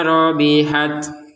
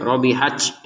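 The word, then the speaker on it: رَبِحَتْ: Fama robihat. Nah, ini robihat ya. Ada ta yang harus kita keluarkan nafas sedikit saja, jangan banyak-banyak. Rabihaj itu kebanyakan. Rabihat enggak ada sama sekali. Keluarkan sedikit. Robihat.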